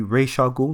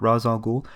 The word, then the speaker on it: Ra's al Ghul: And on the topic of pronunciations, it is actually Ra's al Ghul, not Ra's al Ghul, as per DC official lore. But you will be interested to know that Ra's is actually closer to the correct pronunciation.